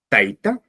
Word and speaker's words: taita: Fíjense, taita es grave o llana. Taitaya es aguda.